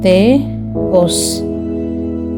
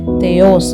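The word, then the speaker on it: Θεός: தேஆஸ், தேஓஸ், தேஓஸ். இது நம்ம தேயோஸ் அப்படின்னு நம்ம ரீட் பண்ணல, தேயோஸ் அப்படின்னு ரீட் பண்ணாமல் தேஓஸ்.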